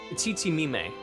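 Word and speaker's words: Tzitzimime: Tsitsimime. That's how you pronounce it.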